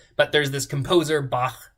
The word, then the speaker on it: Bach: but there's this composer Bach right b-a-c-h and that CH at the end of his name is pronounced uh with a Velar fricative so English doesn't really